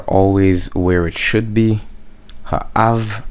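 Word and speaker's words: האב: Ha'av, av here states that it is the accent is on the aleph, so not, well, it's only 2 syllables, so I can't really move this around.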